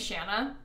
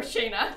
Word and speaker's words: Shanna: But they're laughing because my sister's name is Shanna. And at her graduation this week, they called her Shayna.